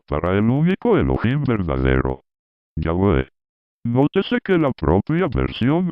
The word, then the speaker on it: Yahweh: debe haber sido Yahvé, que leído en hebreo sonaría correctamente como Yahweh.